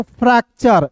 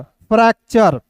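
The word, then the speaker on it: fracture: फ्रैक्चर। एफ आर को पढ़ेंगे frog और ए है तो इसका उच्चारण ऐ के रूप में सी टी यू आर ई पढ़ेंगे चर। फ्रैक्चर। ठीक है?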